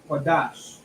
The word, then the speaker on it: Qadash: Wa and the Na come together, which is pronounced one. Lashawan. Then we have Qua, Adai Nasha, Qadash.